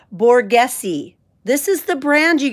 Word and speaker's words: Borghese: These Borghese, someone helped me with the pronunciation. Borghese. This is the brand, you guys, Borghese.